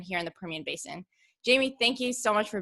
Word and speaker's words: Jaime: How do you say your name? It's Jaime. And actually, there's a funny story around my name. It's not a Hispanic influence. It's actually a French influence, and it was from my dad.